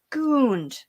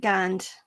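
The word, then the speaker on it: Gund: never exactly gingerbread girls gooned that's german but i'll pronounce it gunned because it's the commercials say gotta get a gunned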